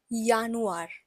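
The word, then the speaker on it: Januar: as you know that J has a y sound in it J is pronounced as yach in German so it is pronounced as yanuar next we have February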